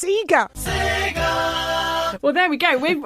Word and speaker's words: Sega: been schooled yeah and it's pronounced sega well there we go